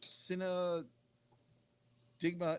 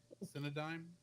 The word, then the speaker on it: Cinedigm: on June 17th, 2014 by G Kids and Cinn Digma. Cinedigma Entertainment. Cinedime. Cinedime. Thank you. Cinedine because it's spelled The only reason I s the